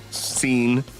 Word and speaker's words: Sean: And the Sean is spelled like S-E-A-E, S-E-A-N, scene.